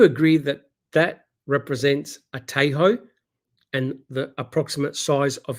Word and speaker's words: Tahoe: But if we have a look it's pronounced Tahoe.